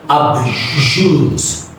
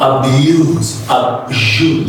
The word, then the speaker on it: abuse: And next is abuse. Not abuse, okay? Abuse. Next is above.